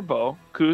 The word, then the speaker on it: beaucoup: is the symbol for beau coup is the symbol for coup you all say beaucoup its bow and then coup that